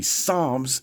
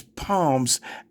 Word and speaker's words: Psalms: woman who doesn't know how to say Psalms and says palms actually read the whole Bible twice, and then her grandmother read it to her. Can we play that again? Yeah. In Psalms 37:35, I had seen